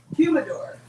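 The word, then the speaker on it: humidor: had that humidifier wow no that's not how you say it humodor that's for drwing cigars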